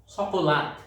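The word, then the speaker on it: chocolate: চকলেট, 5 কাদা চকলেট, সকলাত এরা উচ্চারণ করে, চকলেটকে সকলাত উচ্চারণ করে।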